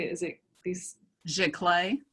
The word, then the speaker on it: giclée: Giclée. Giclée, thank you.